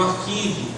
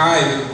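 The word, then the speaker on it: arXiv: Por exemplo, a gente tem o exemplo de e foi o primeiro que surgiu, chamado Arquive, o Archive, dependendo da pronúncia, se você levar para o inglês, e ligado à área de ciências exatas.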